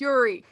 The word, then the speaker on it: Uri: like to play uh my name is yuri and uh nice this is yeah no it's spelled u r i uh uh don't get